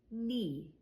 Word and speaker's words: knee: Silent K is just like silent G. It's if it comes before an N. So in this example, knee. Knee. Right? I don't hear a K sound, which would be just knee.